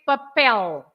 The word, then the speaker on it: papel: paper, and we say papel, Papel. because the last letter is an L. You have to stress the last part, papel.